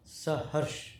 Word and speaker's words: Sahars: So it is pronounced as SAHARS. SAHARS.